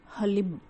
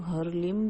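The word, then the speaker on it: ह्लीं: उच्चारण किया है तो उसका सही उच्चारण है हलीम हलीम और कई लोग हर संभव सहयोग करते हैं कई लोग हरलीन भी करते हैं लेकिन जूस का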